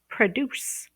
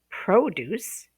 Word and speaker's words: produce: the word produce or produce. Okay. If you stress the first syllable, produce, you're talking about the noun fruits and vegetables that you buy at the grocery store, the produce section.